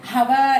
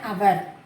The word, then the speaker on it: hour: பட் இங்கே ஹெச்ன்ற இடத்துல நம்ம எப்படி and யூஸ் பண்ணுவோம் அப்படின்னா here the H is silent. ஸோ this is also a exceptional case. இதை நம்ம சொல்லும் போது an hour அப்படி சொல்ல மாட்டோம். an hour, an honest man, an honorable person.